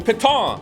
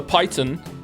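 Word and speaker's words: piton: fun of me for not pronouncing properly because it's a French word. The paton the paton you can have more patons or as I said the python.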